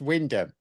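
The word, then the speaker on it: Wymondham: So I pronounced it how it's spelt and the comments are full of people going oh it's pronounced Windham.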